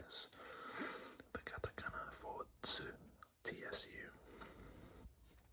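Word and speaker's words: ツ: If it is a normal size, the same size as all the other characters, then it is pronounced it's a tsu character. But, if it's slightly smaller as it is What that means is it adds an extra of the next consonant to the to the sound.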